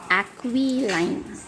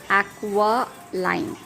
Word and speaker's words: aquiline: If I read this word, I will read it as aquiline. But E sound is pronounced as a sound, so it is aqualine, which means like an eagle.